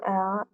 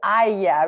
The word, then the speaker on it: aille: Donc, que tu ailles. Remember the word garlic? Aille. You spell it the same. I mean, not that you spell it the same way, but you pronounce it the same way.